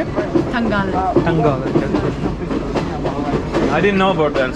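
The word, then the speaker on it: Tangalle: Tangal.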